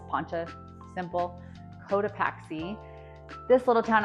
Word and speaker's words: Poncha: Poncha Springs, just like Poncha, like a poncho without the O, it's Poncha, simple.